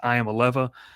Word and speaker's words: Iamaleava: I believe it's pronounced Iamaleava, the quarterback. I think it is, because all the jokes have been, I'm going to leave Iamaleava when he eventually transfers out of Tennessee due to people saying that.